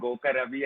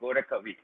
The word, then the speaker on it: Gorakavi: Daksha Mirmali, you have pronounced my name wrong. The last time when I participated in Srinidhi event, it was again called Goka Ravi and Anaru. I am Gorakavi.